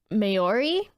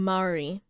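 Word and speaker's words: Māori: So, in the film, they introduce the new tribe, and they're just meant to mirror Maori people.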